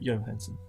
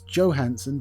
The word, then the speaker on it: Johansson: Johansson. No, it's Johansson, because although Johansson is the proper pronunciation from where she comes from, because she's American, it gets Americanized, and she herself says Johansson.